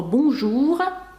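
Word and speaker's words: bonjour: їх вже знати насправді слово бужу добрий день французькою теж наголос падає на останній склад Круасан теж на останній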